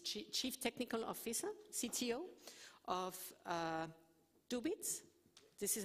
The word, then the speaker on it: Dubit: And finally, we have Patrick Mead, who is representing the private sector, a company, is Chief Technical Officer, CTO, of Dubit. This is how you pronounce it?